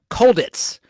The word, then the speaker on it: Colditz: McCallum starred in the critically acclaimed BBC Universal television series Colditz, which is spelled cold like Cold War, ITZ. Colditz, like a Ritz cracker. Cold Ritz, Colditz, which ran from 1972